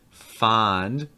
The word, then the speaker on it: fond: For instance, a lot of people have some difficulty pronouncing the difference between fond with an ah sound and fund with an sound. Fond, fund.